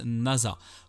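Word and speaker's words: 星空: Yuzaki, un collégien studieux s'écrit avec le kanji de nuit étoilée. Mais il se prononce Nasa.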